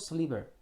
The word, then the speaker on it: sliver: A small sliver. 슬리버는 피스입니다. long piece 정도의 뜻입니다. 길게 자른 조각이죠. 발음이 슬리버입니다. 실버는 은이고 슬리버는 long piece입니다.